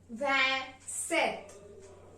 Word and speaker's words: vingt-sept: six six van six means 26 27 is pronounced in French as vet van set van means 20 and set means seven 28